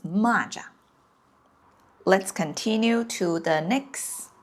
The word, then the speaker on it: 蚂蚱: Yeah, I know it's exactly the same 汉字, but it just pronounced it a little different. When it's the 马, it's 蚂蚁. When it's 骂, it's 蚂蚱.